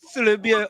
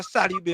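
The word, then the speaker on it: Salybia: But why they call it Salibia or Salibe? Which one is it? They call it both.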